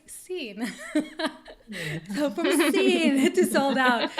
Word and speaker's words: Seen: cena to sold out i know people say that i pronounce it as a sin but it's not sin it's scene so from it to